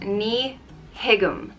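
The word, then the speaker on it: Ní thuigim: means i don't understand it's pronounced knee higgum nihigam i asked my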